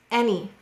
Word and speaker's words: any: Let's look at this word, any. Which sound is the exception in the word any? Excellent, it looks like it says Annie.